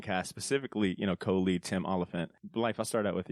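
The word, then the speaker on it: Olyphant: is it olant am I saying it right olant yeah olant thank you so much there's another um Deadwood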